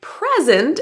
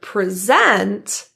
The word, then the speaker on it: present: So, in a word like present, as in a gift, has the first syllable stressed. And the word present, as in the action or the verb to talk to a group of people has the stress in the second syllable.